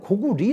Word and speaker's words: 고구려: 그 에 많은 사람들이 구부려 라고 부르지 말고 원래 발음대로 고구리 라고 하자 곡 우리라고 뭐 그런